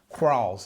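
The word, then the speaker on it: Quarles: other one was crawls crawls i think it's uh pronounced q u a q-u-a-r-l-e-s and randall crawls also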